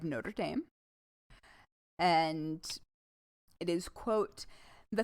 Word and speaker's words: Notre Dame: All right, we're going to use the American pronunciation since this is that university. The University of Notre Dame.